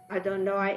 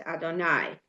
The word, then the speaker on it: Adonai: And while Elohim is pronounced, it is written, Adonoi is not. Rather, it is pronounced Adonai.